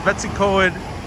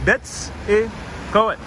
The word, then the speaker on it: Betws-y-coed: Christy says, Betws-y-coed is so beautiful.